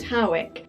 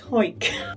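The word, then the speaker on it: Hawick: Now, some people pronounce it Howick, but a quick Google has taught me that people from Hoyk tend to call it Hoyk.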